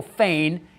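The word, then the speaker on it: Fenne: He played Michael Fane. It's not spelled Fane, but that's how you say it.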